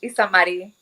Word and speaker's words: Isamary: Isa Marie. Am I pronouncing that right? It's Isamary. Isa Marie.